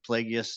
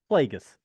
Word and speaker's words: Plagueis: say his name right that's like Worcestershire sauce Plagueis yeah Plagueis so Yoda there's a weird l in there um I think so